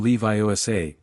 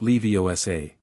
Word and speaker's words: Leviosa: "It's Wingardium Leviosa, not Leviosa."